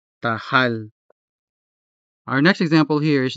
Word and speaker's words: tahal: The consonant ha is part of the stressed syllable, hal, and so it is clearly sounded, tahal, tahal.